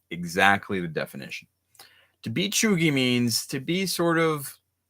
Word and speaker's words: cheugy: Cheugy. This is pronounced cheugy.